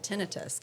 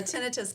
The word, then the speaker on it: tinnitus: I mean, I already have tinnitus, constant tinnitus.